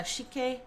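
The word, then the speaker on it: Sik-K: It's um by it's by multiple artists or like there it's featuring multiple artists but uh Shik is how you pronounce that. S I K K Shik K.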